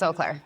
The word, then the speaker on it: Eau Claire: at Metropolis Resort in Oaklair, Wisconsin, which I just learned today how to pronounce. So yeah, it's not E-clair, it's Oaklair.